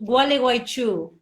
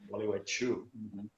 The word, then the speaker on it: Gualeguaychú: oh, this is hard to pronounce. It's called Gualeguaychú. Gualeguaychú.